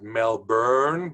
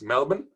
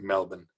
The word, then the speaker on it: Melbourne: Some Americans pronounce it Melbourne, but actually it's Melbourne. No R, pronounced Melbourne.